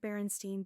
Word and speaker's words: Berenstain: In the case of Berenstain Berenstein, there's an added factor of pronunciation. The surname Berenstein is pronounced with a long A, which is unusual in English.